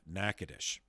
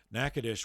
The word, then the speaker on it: Natchitoches: least to outsiders, of Natchitoches. And the phonetics do not at all correspond to the spelling. So Natchitoches is spelled Natchitoches.